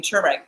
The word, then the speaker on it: turmeric: also surprised so that is just two more tumeric yeah but I asked some people do pronounce it tumeric but they because the Mar